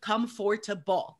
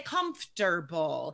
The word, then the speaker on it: comfortable: spelling um comfortable guys nobody says come forth no we just that middle syllable just disappears we say comfortable so guys sign up